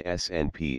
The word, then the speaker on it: SNP: These variations can come in a number of forms, but the most common variation is the single nucleotide polymorphism SNP, pronounced SNP representing a single difference in the individual units that make up DNA.